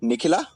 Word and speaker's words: Nikhila: Am I pronouncing it right? Nikhila? Yes, that was surprisingly accurate.